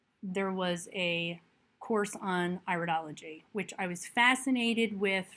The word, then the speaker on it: iridology: Cosmano, and today we will be looking at the iridology, pronounced iridology as in iris, which is the study of the genetic inherent strengths and weaknesses of the iris as through color, accumulation, and structure.